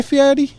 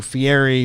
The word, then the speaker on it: Fieri: understand it the way he changed his name to Fieri but pronounced Yeti when his name is like guy ferry is kind of weird the worst thing he